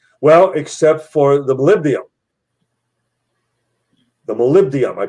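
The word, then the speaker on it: molybdenum: Well, except for the malibdium. the malibdium. I pronounced it wrong in the first time.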